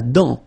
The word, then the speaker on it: dent: La dent, final T not pronounced.